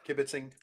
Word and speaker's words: kibitzing: What what I love is you said yeah kibbiting did it said it perfectly.